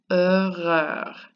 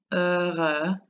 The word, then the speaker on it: heureux: So the first one is pronounced heureux, heureux, and the second one is heureuse, heureuse. It's like a long Z.